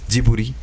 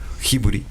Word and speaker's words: Ghibli: Entonces es importante saber que el estudio Gibli, que también se pronuncia como jiburi o hiburi, dependiendo de cómo como dependiendo de qué zona de Japón estés y dependiendo de cómo